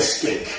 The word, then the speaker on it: skink: That sounds like somebody says, you're skink. Yeah. It sounds like another word, isn't it? Like, so you have to like say it, pronounce it when I'm out and about. Skink, not the other one.